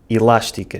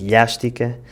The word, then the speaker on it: elástica: chosen for that, because in both accents, especially Madeira, the letter L - the sound L - is replaced by the sound LH when it comes after an I and before a vowel. Quilo (Kilo) becomes “quilho”, elástica (elastic) becomes “elhástica” and mochila (backpack) becomes “mochilha”. The third sentence is: "The